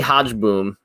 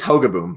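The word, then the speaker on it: Hogeboom: So Gary Hodgeboom, I don't know. Did I pronounce that right? I think it's Hogaboom, but Hogaboom.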